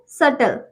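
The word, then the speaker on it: subtle: ठीक है, तीसरा है सटल। ठीक है, सटल, इसमें भी टी से पहले बी है तो हम बी को नहीं पढ़ेंगे, बी हमारा साइलेंट रहेगा।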